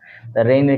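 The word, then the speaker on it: reign: এস আই জি এন সাইন এক্ষেত্রে মাঝখানে দীর্ঘ উচ্চারণ করতেছি না এরপর হচ্ছে আমরা রেইন রেইন মানে হচ্ছে শাসনকাল রেইনের ক্ষেত্রে আমরা দেখতেছি যে আর ই আই জি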